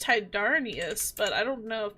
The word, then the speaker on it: Tyndareus: I want to say it's Tydarnius, but I don't know if that's... pronunciation. Yeah, Tindarius. Tindarius or Tindarius. Okay, Tindarius.